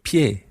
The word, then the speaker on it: pie: The word for foot is el pie. El pie. Now, if you've done French, then you'll recognize le pied. It's spelled slightly differently, P-I-E, el pied.